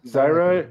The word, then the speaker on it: Zyra: Is that how you pronounce the name? Zira? Zyra. Zyra.